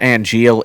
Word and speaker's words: Angeal: And then Wait, all is of this name Angeal like Angel? Yeah.